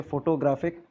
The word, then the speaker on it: photographic: And when we say photographic, see, gra, A is pronounced the longest, right?